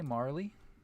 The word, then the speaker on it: Marle: And also, for anyone who is interested, I one time got yelled at for pronouncing M-A-R-L-E as Marl. Okay? Some people say Marley, including, to my knowledge, #1 speedrunner of Chrono Trigger, Puwexel.